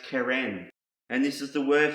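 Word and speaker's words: קרן: And the last word I want to share you with, it starts with the letter Qoph, is pronounced keren.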